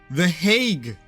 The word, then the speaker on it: The Hague: It is The Hague in English, apparently. And apparently in Dutch, it's something like Den Hagen.